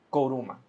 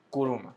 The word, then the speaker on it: Kourouma: Juliet, por favor, dime si pronuncio mal tu apellido. Koruma. Kuruma. Kuruma. Sí.